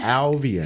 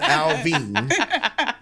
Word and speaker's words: Alvian: Her name is Alvian. Can we get the last show? Can we get on there? Alvian. Say it together. Not Alvin. Not Alvin. 2 syllables. It's 3.